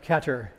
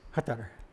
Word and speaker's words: Qatar: Instead, it's not Qatar, it's not Qatar, it's Qatar.